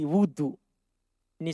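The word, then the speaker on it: وضوئي: Nahwa wudu'i, wudu. Ini sekarang bacanya wudu. Nahwa wudu'i, seperti wuduku. Jadi bukan seperti air wudu, tapi wudu.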